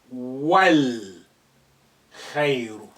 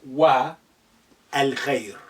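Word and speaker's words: والخير: You will say wal khayru, not wa al khayr.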